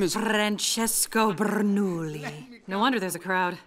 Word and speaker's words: Bernoulli: Francesco Bernoulli. No wonder there's a crowd. Wait, why do you know his name? I don't say it like that. It's three syllables, not ten.